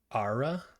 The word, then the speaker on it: Ara: uh next was uh I believe it's pronounced ARA era something like that history Untold this is